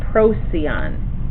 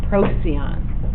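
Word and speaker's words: Procyon: right here is a star called proon p r o c y o n this is proon and this looks in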